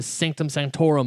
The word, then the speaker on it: Sanctum Sanctorum: the Fantastic Four, the Sanctum Sanctorum of Doctor Strange. Yep. Did I say it right? Sanctum Sanctorum.